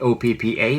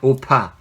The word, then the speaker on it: 오빠: So, well, most people just spell it like O-P-P-A, but actually it's not oppa, it's oppa.